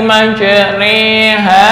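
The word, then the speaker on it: مجريها: Bismillahi Ma re ha tulisannya majro Ha tapi cara membacanya adalah imalah imalah diulis dengan bulatan di bawah Bismillahi majriha wa Mur n Mur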